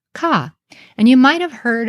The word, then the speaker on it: kA: we call Aleph so in modern hinds we pronounce this kah and you might have